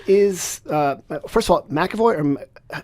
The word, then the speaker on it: McEvoy: tell me where is uh first of all McAvoy or pronounce it please yeah you got it okay